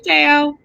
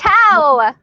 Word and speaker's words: Tao: Hey, Teo. And yeah, anyhow, so it's just been. Oh, it's Tao. Hi, Tao. Okay, I said it wrong.